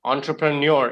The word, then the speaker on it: entrepreneur: women milkman thank you entrepreneur is how we pronounce the word four syllables okay just typing the word